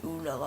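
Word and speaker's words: Ünal: So yeah, I'm looking forward to Enes Unal actually next year because we signed him. I think it's actually pronounced Anal, but let's not get into that.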